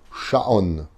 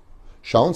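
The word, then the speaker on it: שעון: Sha'on. Sha'on, ça s'écrit Shin, Ain, Vav, Nun.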